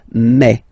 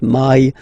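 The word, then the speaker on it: mai: Remember when you combine this a and then e vowels you get the sound e. So really open e. Okay? And then you pronounce it me. Me. Okay? So don't pronounce e. Don't try to pronounce it. No, it's me. Me. So it's not my, it's me. Okay?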